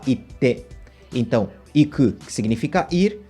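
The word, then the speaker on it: 行って: A transformação do iku, ele deixa um intervalo na pronúncia. Então, ao invés da gente falar ite, a gente fala ite.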